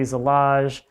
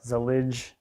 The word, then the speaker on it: Zellige: This is a Zellige or Zellige. I've heard it pronounced either way, but regardless, this stuff is interesting.